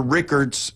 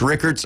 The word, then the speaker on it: Rickards: Uh Mosley is traveling to Rickerts. Is that how you pronounce it? Riker or Rickards? It's Rickards.